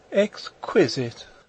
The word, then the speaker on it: exquisite: have thought of exquisite exquisite she repeated the word with a sarcastic inflection putting the accent as everyone put it on the second syllable i don't think that